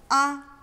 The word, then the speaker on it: ㄚ: Ah. Ah. Think of a kid who's just been let out for the summer break going, "Yeah." Then get rid of the Y and you have a A.